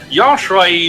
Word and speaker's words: Joshua: call me Joshua and remember how I pronounced it yosua is as close as it gets to the original pronunciation Hebrew pronunciation of well Jesus so